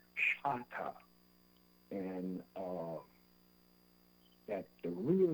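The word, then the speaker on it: Chahta: I found out later on that the correct pronunciation is Chata, and that the real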